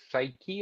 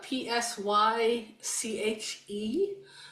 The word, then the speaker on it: Psyche: And it's spelled oddly, uh p s y c h e. So, I'm I call it Psyche. Um Yeah. I think that's probably a an approximately right pronunciation.